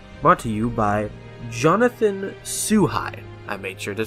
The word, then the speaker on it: Szuhai: a theory today brought to you by Jonathan sue hi I made sure to say it right the